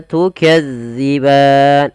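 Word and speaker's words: تُكَذِّبَانِ: tukadziban dilafal huruf dalal hati-hati ya teman-teman jangan sampai kita membacanya panjang Maaf bukan panjang menggantinya dengan huruf Zai contoh Bagaimana tukazziban Nah itu diganti Padahal dia tidak boleh yang betul Bagaimana tukadziban bagaimana cara membacanya yaitu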